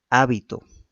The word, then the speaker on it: hábito: Por ejemplo, dice hábito, habito y habitó, ¿no es cierto? Pueden escribirse aparentemente de la misma forma, ¿no? Pero si yo la pronuncio mal, puedo estar diciendo otra cosa muy distinta, ¿no es cierto?